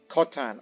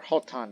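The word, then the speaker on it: Khotan: out there places like kashgar or kotan or holton depending on your pronunciation or even comes to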